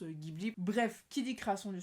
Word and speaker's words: Ghibli: est déjà trop tard, du coup au Japon on prononce Ghibli, et nous on le prononce Ghibli.